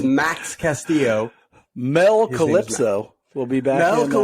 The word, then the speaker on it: Max Castillo: back to triple a i keep saying i can't say his name max cassio i think last week i called them like mass castillo or something like that it is max castillo mel calypso will be